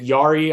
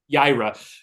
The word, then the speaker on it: Yaira: So now, as far as, because so the Rippaverse, or what they're doing with ISOM, Alphacore, is it Yari? I always forget how to pronounce it. Yaira.